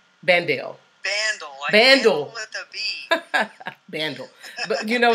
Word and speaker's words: Bandel: Did I pronounce that right? Bandel.